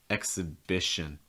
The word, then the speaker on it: exhibition: same thing for exhibition exhibition vision with the short eye sounds and again we get another reduction too exo exa it's not xe it's more exa exhibition russia has a long